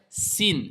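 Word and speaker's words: سين: Donc, on ferme les dents et on zozote pas. On ne sort pas la langue afin de donner le parce que là, c'est la lettre th.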